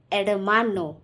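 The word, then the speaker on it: hermano: है वो एडमानो है, लेकिन मैं यहाँ पर एच को प्रोनाउंस नहीं कर रही हूँ, ई से प्रोनाउंस कर रही हूँ। क्यों? क्योंकि एच जो है वो स्पेनिश लैंग्वेज में एक रूल है जो बहुत इम्पॉर्टेंट है। स्पेनिश लैंग्वेज में एच जो है वो हमेशा साइलेंट होता है।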